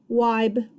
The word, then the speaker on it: Wibe: Wibe rhymes with tribe.